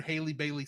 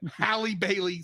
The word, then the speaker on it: Halle Bailey: I've never heard Haley Bailey sing. Yeah. How do you say it? I'm sorry. Halle Bailey sing.